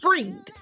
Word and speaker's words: Fried: So listen, she leaves me a comment saying Sam Bankman-Fried is pronounced freed.